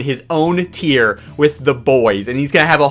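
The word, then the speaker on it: Beau: I almost mispronounced his name, but his name is Bo.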